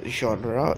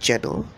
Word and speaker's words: genre: this word right here, genre. It isn't pronounced genre, it's pronounced genre, ZHON space ra, RUH.